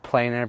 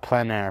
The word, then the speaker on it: plein air: that's what everybody says and that's actually how it's spelled I said planer painting in my video because that's how some people say it but um I'm calling it plan a from now on because that's the right pron